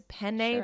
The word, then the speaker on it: penne: in italian too because penne pasta is spelled p-e-n-n-e and you have to in in italian when there's a double consonant you have to put the emphasis on the double consonant because spin pen because